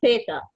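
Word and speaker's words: zeta: روان هتنطقي اس اس تي ده في النطق، انما هنا في الحروف هي اسمها ثيتا. ثيتا بالث برضه.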